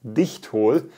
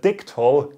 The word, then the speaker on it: Dichtol: In Germany, it's pronounced Dichtol, but this is an English speaking video, so I will pronounce it Dichtol.